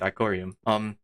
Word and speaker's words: Ichorium: And the next tier, for tier 6, needs blood-soaked Icorium. And I'm hoping I pronounced that right. In fact, Google, help me out. Pronounce. Ichor. Thank you, Google. Yes, Ichor. So I was correct, Ichorium.